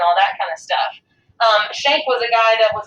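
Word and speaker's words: Schenck: This is pronounced Shank versus the United States.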